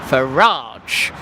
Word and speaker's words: Farage: a bit pernickety and fussy Oh actually it's Faraj uh-huh just a car roll with it and